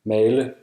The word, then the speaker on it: male: and it's more like A when it's a long vowel. For example, Male.